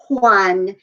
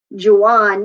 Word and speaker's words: Juan: don't say hola okay the j actually makes the or the hota rather makes the ha sound think of your names like juan and jorge and jose and let's get some girls in there juliana and josefina they're not going to be jose and georgie and juwan you get the point